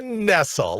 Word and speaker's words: Nessel: don't know how to pronounce her name dana nessel is that it you're a michigander wayne is was it nestle of course it is dana nessl look at that smug little look on her